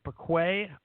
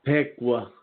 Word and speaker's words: Piqua: I think that's how you say it, Piqua, Ohio? No, Piqua. Piqua. Oh, okay. I was trying to be fancy.